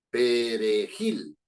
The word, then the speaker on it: perejil: voz No es cierto El golpe de voz predominante Perdón está en Gil perejil No es cierto eso